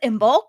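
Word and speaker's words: Imbolc: of my own last Saturday it was imul which is the halfway point between winter and spring spell that for everybody i m b o l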